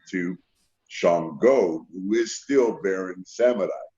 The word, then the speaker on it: Shango: And the correct pronunciation of it is Shango.